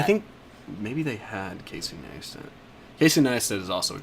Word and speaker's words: Neistat: Yeah, I told you his first episode was with Casey Neistat, which another one of my favorite YouTubers.